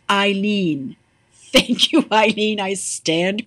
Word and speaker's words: Eileen: It's pronounced Eileen.